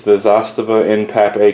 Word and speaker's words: Zastava: who gives a damn that is how you pronounce it Zastava not Zastava I know this because